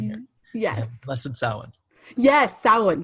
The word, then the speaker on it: Samhain: Yes, Samhain.